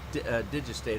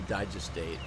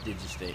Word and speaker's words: digestate: It also does digistate or digestate, however you want to pronounce it. I've been corrected both ways, so I just don't really care. I think it's supposed to be digestate. I've said digistate before, and people, that's not right.